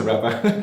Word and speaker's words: Rapa: Is that how you say it? Yeah. Because I feel like it's a Rapa. No, really. No, it's a Rapa. Quite simple.